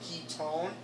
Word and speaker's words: ketone: ohm ends in o-n-e we don't pronounce it one pronounce it on so key tone that's how you recognize